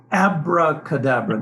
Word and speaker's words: abracadabra: So the modern version is abracadabra, one word. 今のが、モダンバージョンですね。一言でアブラカダブラ。はい。 No, abracadabra, no V in there.